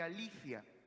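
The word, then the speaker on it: ἀλήθεια: Y la palabra verdad aquí en el griego es la palabra aletheia, o pronunciado más correctamente, aletheia.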